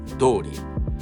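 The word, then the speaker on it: どおり: Additionally, when the noun is directly placed before the phrase tori, the pronunciation changes from tori to dori. But when the particle no is placed before the phrase, pronunciation remains tori.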